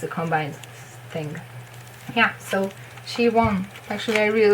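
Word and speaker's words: Siwon: So she won. It's easy. It's really how you would read it after seeing this.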